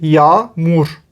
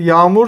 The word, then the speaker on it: yağmur: We say yağmur. It is raining, for example. Yağmur yağıyor. Can you spell the word? G with that thing they might not know. So this G in Turkish is a silent G.